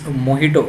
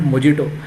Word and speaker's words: mojito: too much virgin moito it's moito it's not mojito it is written as J there but you have to spell as H and similarly this one